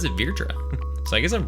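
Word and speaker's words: Vrtra: then uh virtua it's funny i've always said virtra and we were just playing final fantasy 14 and a slight spoiler work but the concept of fear trick comes up and they pronounce it virtua so i guess i'm pronouncing it wrong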